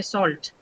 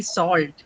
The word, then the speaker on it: salt: So you say salt but in the US pronunciation if you see you you would see salt which is pronounced with a longer o sound.